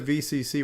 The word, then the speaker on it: OVCC: people now um now this is the VCC where the O is silent right so this is the